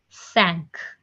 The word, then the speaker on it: cinq: 5 is written down as Cinq, and it's being pronounced as cinq.